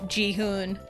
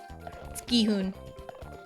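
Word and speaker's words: Gi-hun: Or they run it through like um they run it through like a a voice filter or something and it misreads it as Ji Hune. It's like uh no Guhune.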